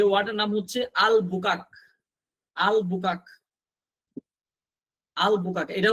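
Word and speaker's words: Albuquerque: এখানে আর এর উচ্চারণ হচ্ছে না। এই যে আর এর উচ্চারণ হয় না।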